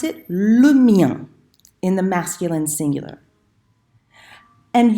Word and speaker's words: le mien: on Skype, I said, it rhymes with rien. So you know how to say rien, just make sure you make it rhyme with that, okay?